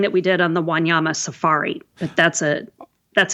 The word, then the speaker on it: Wanyama: Wanyama, yes, it is. I can tell just it's just the way it's spelled actually, I think.